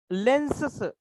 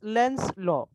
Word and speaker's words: Lenz's law: Lenses असं म्हणायचं नाहीये. Okay, don't pronounce in such lens. It's Lenz's law.